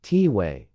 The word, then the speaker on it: Tai: likable and warm one of them Tai we pronounced tiway is a medicine man in his 60s and